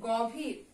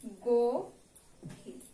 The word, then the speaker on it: গভীর: তারপরে দেয়া আছে গভীর, এটার উচ্চারণ কি গভীর, না, এটার উচ্চারণ হচ্ছে গভীর।